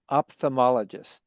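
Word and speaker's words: ophthalmologist: Uh actually op uh the opthomemologist is you know the first syllable would be the op and the second syllable would be th h a l and then uh mologist opthomemologist opthomemologist perfect.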